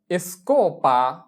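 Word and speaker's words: escoba: এস এর উচ্চারণ হবে এস, চি ও, কো, এসকো। এসকোপা এসকোপা এসকোপা মানে হচ্ছে ঝাড়ু।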